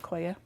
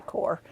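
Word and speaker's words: coir: Some people call it coya. It could be pronounced that way. I don't know. I say core.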